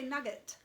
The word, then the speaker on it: nougat: don't call it nougat t is silent pie pop now that you're pronouncing the g the t is okay yeah because i'm odd i think americans might say nugget and that that's that's